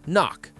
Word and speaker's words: NOC: NOC, pronounced knock.